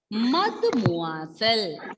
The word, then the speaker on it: Mademoiselle: Ensuite, the third one is Mademoiselle. Mademoiselle. Okay, listen everyone. MAD you can read as mud. Then MOI moi. SELLE cell. Mademoiselle.